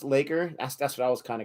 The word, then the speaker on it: LAKR: LAKR pronounced Laker.